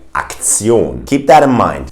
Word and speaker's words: Aktion: If you see this ending of a word, which you might already know from English, then you have to know that it's pronounced Zion. In a word like institution, the German pronunciation of that word would be Institution. That's the same word, by the way, the same spelling, but it's pronounced differently. We say Institution, or in a word like Aktion.